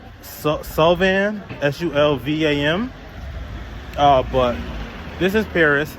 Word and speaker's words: Sulvam: So we're on our way to what I believe is pronounced Sulvam, S-U-L-V-A-M.